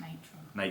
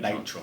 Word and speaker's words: Natron: It is pronounced Natron. Natron.